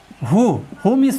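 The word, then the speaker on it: whom: जैसे हु means होता है कौन। हुम मीन्स होता है किसको। हुज, हुज मीन्स होता है किसका। जिन शब्दों में WH प्लस O हो तो वहाँ पर H साइलेंट नहीं होता है।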